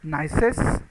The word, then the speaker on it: gneiss: Then granite gneiss, it pronounced like nice, but in that G is silent, so it is nice.